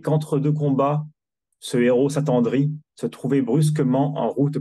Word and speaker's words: s'attendrit: Because s'attendrit, the T is silent, it just ends with E.